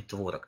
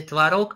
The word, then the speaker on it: творог: Конечно, гораздо чаще мы сейчас говорим творог, но тем не менее ударение творог имеет определенный шарм, и в настоящее время оно такое же равноправное, как и произношение более привычное нам.